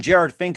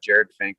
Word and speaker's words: Jerad Finck: that's very important as well too once again jared fink of blazar here on the mike wagner show